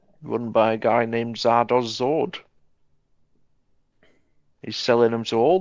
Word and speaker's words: Zardoz Zord: at the harbour, run by a guy named Zardoz Zord. He's selling them to all the hoity-toities. Could you pronounce his name with letters?